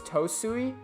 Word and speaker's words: Tsui: is it tosui well because usually the tea is silent if it's followed by the S but it had the O so I don't I'm sorry I don't really know like Japanese pronunciation there I think it's supposed to be too sui or tosui I think it's tosui because if it was just Suey it would be t-s-u-i so I think it's